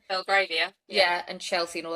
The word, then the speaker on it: Belgravia: Belgravia? Belgravia.